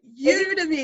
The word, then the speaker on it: Udemy: what is udemy or how do you pronounce it udemy it's like a really strange word isn't it you to me it's like an online